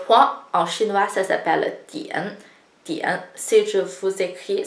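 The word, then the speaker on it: diǎn: Le point en chinois, ça s'appelle dian. Dian. Si je vous écris, c'est beaucoup plus compliqué. Donc, en pinyin, c'est di-i-an, dian, troisième ton, di-i-an, dian.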